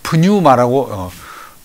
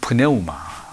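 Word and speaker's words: πνεῦμα: 프네우마. 뭐 프뉴마라고 붙여서 읽기도 합니다. 더 정확히는 프네우마, 영.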